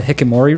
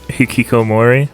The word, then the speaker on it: hikikomori: house at all and it's called the hikimori route i think it's pronounced and it's basically like just hiki hikikomori yes that's it thank you yeah and